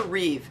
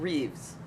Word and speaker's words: Reeve: Christopher Reeve. It was always Reeve, not Reeves.